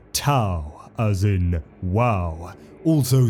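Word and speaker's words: T'au: ethereal Supreme AA the T apostrophe Au Empire pronounced ta as in WoW also spelled th hu Empire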